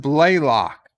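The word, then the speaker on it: Blalock: have a shot monty very cool eastland it's pronounced blaylock oh blaylock uh jolene blaylock okay well either way a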